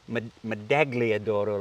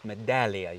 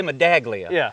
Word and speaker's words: Medaglia: She said it's not the med madagliadoro like you say. It's medallia. You don't pronounce the g. So I started saying medalladoro. And then I get people I miss it when you say medaglia.